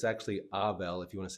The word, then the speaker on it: Avel: say Avel, like Adele, but it's actually Avel if you want to say it correctly.